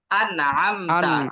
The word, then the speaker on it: أنعمت: عليهم আনের পরে কিন্তু একটা আইন আছে, এই আইনটাকে কিন্তু আমরা চাপ দেই নাই। আইনটাকে যদি চাপ না দেন, তখন ওটা আনআমতা হয়ে যাবে, তখন ওটা হামজার উচ্চারণ চলে আসবে। এখানে যে আইন আছে, এই আইনটাকে একদম চাপ দিয়ে উচ্চারণ করতে হবে।